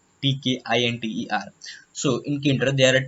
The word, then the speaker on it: Tkinter: So in the Tkinter world, some of the people pronounce it Tkinter, but it's not good. It is Tkinter, Tkinter.